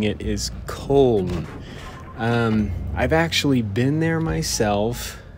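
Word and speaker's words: Köln: That's the American way of pronouncing it, but the German way of pronouncing it is Cologne.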